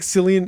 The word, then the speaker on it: Cillian: It's like Cillian. It's Cillian Murphy, not Cillian Murphy. Did you know really? that? God damn. I knew Cillian. I always thought it was Cillian. Apparently, all right. Spell it with a K.